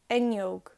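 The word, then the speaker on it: fhuinneog: h after the f you just pretend like the f and h aren't there it's just enyog another example fulham to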